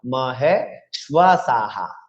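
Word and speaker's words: মহেষ্বাসাঃ: এবার বিসর্গের পূর্বের ব্যঞ্জনটি হচ্ছে দন্ত স, দন্ত সর সাথে কিন্তু একটা আকার যুক্ত রয়েছে, সে আকারকেও হ সাথে যুক্ত করে আমাদের উচ্চারণ করতে হবে, অত্র শূরা মহে শ্বাসাহা। ক্লিয়ার?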